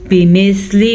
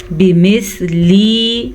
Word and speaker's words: بمثل: علیہ بمثل ما اعتدى. بمثلی انتہائی غلط ہے. بمثلی. اب بعض لوگ کیا کرتے ہیں اس کو لمبا کر دیتے ہیں. آپ نے لمبا نہیں کرنا اور اپنی یہ غلطی درست کر لیں.